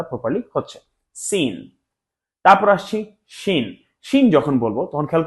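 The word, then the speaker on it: ش: এই আওয়াজটা আসলে বুঝতে হবে যে আমাদের উচ্চারণটা প্রপারলি হচ্ছে সিন। তারপর আসছি শিন।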